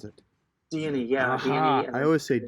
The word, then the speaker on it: Dione: Dione, is that how you pronounce it? Dione, yeah, Aha!